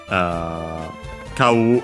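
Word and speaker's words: 買う: Kau, unaccented, is the more common one because it means to buy.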